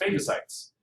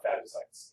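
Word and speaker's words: phagocytes: pathogens sorry not pathogens fagos sites fagos sites it's a it's a long a not a short a it's not fos sites uh f is the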